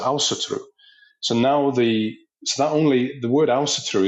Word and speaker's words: Ásatrú: It was Åsetru, and the Icelanders copied that pronunciation, but in their language, and they pronounce it Åsetru.